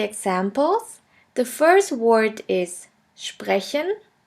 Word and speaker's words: sprechen: combination is as pay which is pronounced like the letter combination shp and sht let's have a look at the examples the first word is sprechen sprechen which means to speak